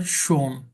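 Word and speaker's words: schon: meaning অন্যরকম হয়ে যাবে এটার উপর যদি উমলা উঠ না থাকতো তার মানে হলো অলরেডি আর এটার উপর যেমন উমলা উঠ থাকে সুন যদি আমি বলি সুন তাহলে হবে বিউটিফুল আমি যদি বলি শোন তাহলে হবে অলরেডি যেমন ইশাবেন ডয়েজ কেন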